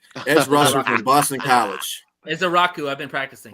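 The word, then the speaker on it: Ezeiruaku: I don't know how to fucking pronounce his last name. Edge rusher from Boston College. Ezaraku. I've been practicing. Azaraku.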